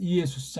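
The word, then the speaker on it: Ἰησοῦς: 이게 헬렌 말로는 이예수스지 않습니까? 이예수스. 한국은 이걸 그냥 예수 하니까 아무런 생각 없이 정확한 발음도 모르는 채로 헬라어를 해도 마찬가지예요.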